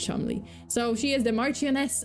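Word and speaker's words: Cholmondeley: found it out but um but yeah apparently chel mandali is not chel mandali it's CH it's pronounced chle make it don't make it not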